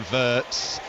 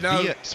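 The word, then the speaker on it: Wirtz: We are all saying verts. Well, the pronunciation is Viet. We've been told by the club.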